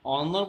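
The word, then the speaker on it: honour: एन ऑनर बोलेंगे इसलिए यहाँ पर एन आया, न कि ए आया। तो यहाँ पर एच क्या है, एच यहाँ पर साइलेंट वर्ड है, एच बिल्कुल साइलेंट रहता है, इसलिए हमने यहाँ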